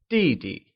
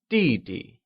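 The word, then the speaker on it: 弟弟: last one in line younger brother translates to DD which is pronounced using the falling tone let's try and say DD good we've covered all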